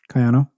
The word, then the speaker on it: Kayano: Kayano, did I get that? Kayano.